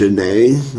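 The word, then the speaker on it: Zhané: Yeah, anyway, so that was Zhane off the album pronounced Zhane.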